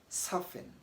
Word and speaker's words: soften: the silently is that when an f and a t lies side by side in the middle of a word the t is silent so whenever tea and